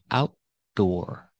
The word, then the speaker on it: outdoor: cannot say outdoor outdoor we cannot use a fast D we need that stop T and then the d a full D outdoor the restaurant has outdoor